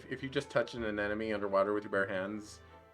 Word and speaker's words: anemone: real talk i would not know how to pronounce an enemy if it weren't for finding nemo and then an anemone an anemone yes i mean i know it